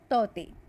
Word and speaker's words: Tauktae: इसका जो नेम है, स्पेलिंग तो है TAUKTAE, बट के जो है वो साइलेंट है, तो इसका प्रोनाउंसिएशन जो होता है तौते, जो एक परमिस प्रोनाउंसिएशन में आता है।